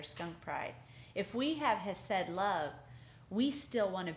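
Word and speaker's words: חסד: And you actually say it like hesed, right? Hesed, right?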